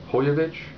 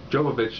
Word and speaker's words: Jovovich: I think it's Hojovic. Jovovich isn't the way it's pronounced, I guess, according to Wikipedia.